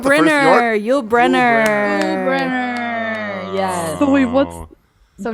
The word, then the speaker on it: Brynner: Brenner. Yes. So wait, what's So Brenner? now It looks like Briner. It's spelled like Briner.